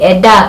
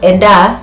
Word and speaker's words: enda: Remember when we were learning consonants, we said that N is silent when we're using it with D, when we're using it with J. If you hear me saying eda instead of enda, we still have to use N either way.